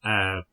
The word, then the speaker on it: Aire: But that's air like the river.